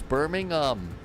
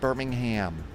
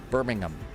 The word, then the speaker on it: Birmingham: It's Birmingham, not Birmingham. Birmingham is in the US. We are in the UK. Birmingham.